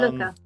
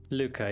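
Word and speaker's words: Lucca: is um uh Lucia or Luca, however it's pronounced. Um Luca. Luca.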